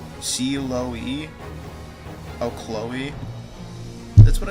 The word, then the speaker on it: Chloe: Isn't it pronounced C-Lo-E? Oh, Chloe.